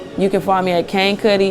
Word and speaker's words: Kane Kuhtti: Cuddy um you can find me at cane Cuddy it's spelled k-a-n-e-k-u-h-t-t-i it's on all platforms you can